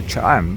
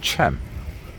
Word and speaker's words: Cha-am: I'm inclined to say Cham, but I've heard it pronounced as Cham.